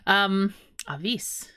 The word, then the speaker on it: Avis: We do pronounce it Avis as well.